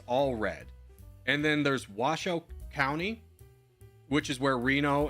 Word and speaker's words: Washoe: Um but he kept pronouncing it Washoe and I was just like, "Come on." It's Washoe.